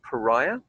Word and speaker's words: pariah: serve the point that we're going to make the vowel sounds instead of an H sound. Pariah. Pariah. No H sound at all, really.